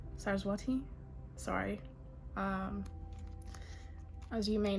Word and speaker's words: Saraswati: um what was the other one Cyrus what sarsapati Saraswati sorry um as you may know my pronunciation is not my it's not my strong